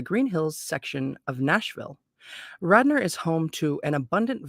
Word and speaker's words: Radnor: to a place called Radnor Lake Radnor it's actually called by the locals is one of Radner maybe I mean it's